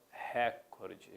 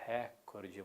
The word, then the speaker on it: recorde: Não é proparoxítona. Frequentemente nós escutamos nos meios de comunicação recorde, lembra? Ele bateu o recorde mundial. O certo é, pessoal, recorde.